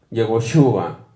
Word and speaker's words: Yehoshua: Yeho, Shua. Así como si lo estuviéramos dividiendo en sílabas, ¿no? En nuestro idioma, ¿no? En nuestra ortografía, nuestra escritura. Yehoshua.